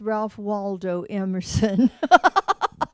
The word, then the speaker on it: Ralph Waldo Emerson: poopery yes okay good so um wal walf Rando no I think it's Ralph Waldo Emerson see I just needed to unlearn the false pronunciation of his name Ralph Waldo erson said